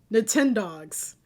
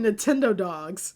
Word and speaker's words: Nintendogs: Next, we got Nintendogs. Apparently I've been mispronouncing it. I always called it Nintendo Dogs because here's the thing about me.